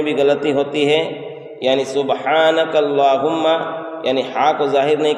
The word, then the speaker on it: سبحانک اللہم: سبحانک اللہم، سبحانک اللہم، اس کے پڑھنے میں بھی غلطی ہوتی ہے، یعنی سبحانک اللہم، یعنی ہا کو ظاہر نہیں کرتے ہیں، اور